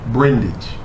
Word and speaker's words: Brundage: get and let me make sure i pronounce it correctly dr brundage brendage yeah brendage or you can just call